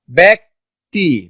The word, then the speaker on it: ব্যক্তি: রস্বই থাকলে বা দীর্ঘই থাকলে জ ফলার উচ্চারণ কিসের মতো হয়ে যায়? এর মতো হয়ে যায়।